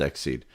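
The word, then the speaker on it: XSEED: and related materials so it is pronounced exceed so huh interesting okay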